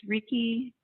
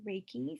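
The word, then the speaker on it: reiki: always say it wrong is it it's Ricky raiky I don't know I give up hi everyone um yes it's raiki so it's univ universal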